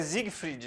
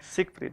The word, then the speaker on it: Siegfried: Ô, eu estava falando com você aqui, é Siegfried, né? Siegfried. Siegfried. Siegfried. E pela dificuldade da pronúncia que surgiu o, não é não?